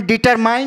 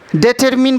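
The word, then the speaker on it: determine: और DETRMINE, इसे हम डिटरमाइन नहीं पढ़ेंगे, डिटरमिन पढ़ेंगे, डिटरमिन।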